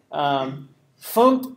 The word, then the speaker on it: fmt: FUMPT is how you say FMT, format, FUMPT. That's how Caleb was saying it, so I guess that's the way you say it.